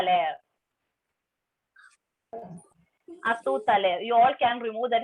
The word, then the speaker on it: à tout à l'heure: À tout à l'heure.